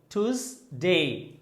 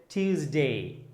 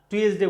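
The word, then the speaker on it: Tuesday: দেন এটাকে আমেরিকানরা বলছে, খেয়াল করেন, টুজডে টুজডে টুজডে। ব্রিটিশে বলছে টিউজডে টিউজডে। আর আমরা কি বলছি? টুয়েসডে বলছি। কি বলছি? টুয়েসডে বলা যাবে না, বলতে হবে টিউজডে।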